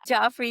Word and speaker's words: Joffrey: So I have here with me an old friend, Joffrey, yeah, the J is Joffrey. pronounced.